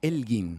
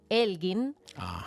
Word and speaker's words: Elgin: para acá los mármoles de Elgin para allá se escribe e l G i n Elgin Elgin exacto y bueno Y si buscas un